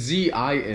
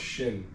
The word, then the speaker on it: Xin: It's Z I N. Zin Team. Oh, it's pronounced Shin.